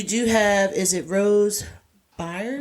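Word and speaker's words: Byrne: So, you do have is it Rose Burn? Burn. It's burn. I think it's called Burn. I mean, I think she pronounced it burn.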